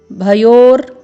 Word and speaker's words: भयोर्: सेनयोरु, सेनयोरु भयोर मध्ये पूर्ण वर्ण भ है, फिर य में ओ का स्वर है, भयोर। क्योंकि पूर्ण वर्ण म में रेफ की मात्रा है, तो यहाँ पर आपको उच्चारण करना है भयोर, फिर मध्ये।